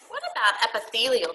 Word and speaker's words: epithelial: without you even having to think about it Athy lleol tissue let's try to pronounce it first say it with me uh